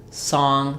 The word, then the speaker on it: song: So while sun the uh vowel song the a vowel those are monofongs.